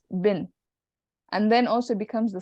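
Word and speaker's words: ابن: When you have ibn, the word ibn, coming in between an ism and an ism, the alif is not pronounced. So it just becomes bin.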